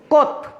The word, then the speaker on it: Comte: তোমাদেরকে বলি, কেউ কিন্তু আগস্ট বলবে না, আগস্ট কিন্তু একটি মাসের নাম, এটা বলবে অগাস্ট কোত। COMTE, August কোত। বানানটি একটু জটিল বিধায় আমি তোমাদেরকে এটা ইংরেজিতে লিখে সহায়তা করলাম। তাহলে অগাস্ট কোত, COMTE, কিন্তু উচ্চারণ হচ্ছে কোত।